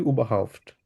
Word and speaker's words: überhaupt: আচ্ছা, আরেকটা হচ্ছে শুল ফেস্ট, এটা হচ্ছে তালিবাস উচ্চারণ হবে শুল ফেস্ট। উবাহাউফট। বলেন দেখি উবাহাউফট।